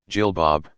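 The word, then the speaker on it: jilbab: somewhere a flowing gown Jill Bob pronounced Jill ba a B that extends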